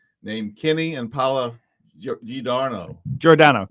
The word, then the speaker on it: Giordano: Giordano, correct, Giordano, Mike.